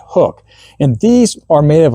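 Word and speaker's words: Huk: The fifth item on my list today are these Hook Performance shirts. Now, it looks like it's spelled Huck, but it's actually pronounced Hook.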